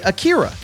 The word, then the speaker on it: Akira: dub of this movie which is why I say a Akira not Akira but to be clear